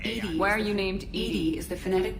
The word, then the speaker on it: EDI: Why are you named Edie is the phonetic pronunciation of...